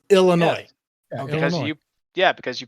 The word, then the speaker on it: Illinois: Like ill, like illness. Illinois.